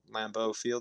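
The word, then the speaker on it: Lambeau: It's going to be a Lambo Lamboo or Lambo Field.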